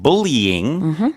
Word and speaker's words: bullying: And as you duly pointed out, bullying is another example of that. There is that sort of tricky 3rd syllable there. Bullying.